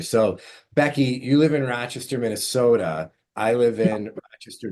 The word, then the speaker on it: Rochester: Rochester. See, we we land on a different syllable. We're Rochester.